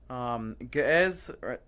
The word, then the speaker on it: Ge'ez: And so, they put it in Greek, in Slavonic, they had it in Ge'ez, is that how you say it?